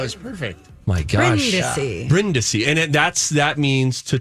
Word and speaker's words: Brindisi: brindisi but it is bryndisi that's the Italian pronunciation right Michael that was perfect oh my gosh Brenda see and that's that means